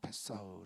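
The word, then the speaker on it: פסח: 이제 바스카라 하는 헬라어인 히브리어에서 이제 파사라 해서 페사흐 고도 발음하는데 이제 넘어가다 예 죽음이 그들을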